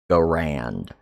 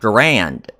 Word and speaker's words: Garand: People are mispronouncing it. It's not Garand. It's Garand."